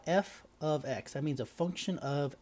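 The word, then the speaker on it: f(x): and this is pronounced f of x it's got an f with a parenthesis x in the middle but we say that out loud f of x that means a function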